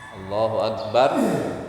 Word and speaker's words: Allahu akbar: pelafalan pelafalan itu agan Allohuakbar Allohuakbar itu yang paling bagus Akbar Itu dimatikan disukunkan roknya Allahuakbar Allahuakbar Hai kalau tidak